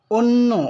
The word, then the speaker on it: অন্য: আর যদি ভাত অর্থ না হয়ে অপর বা ভিন্ন বা পর অর্থ হয়, তখন সেই শব্দটির উচ্চারণ হবে অন্য। অন্য, অথচ আমরা বলি অন্ন। অন্য উচ্চারণ এটি ভুল হবে, বলতে হবে অন্য।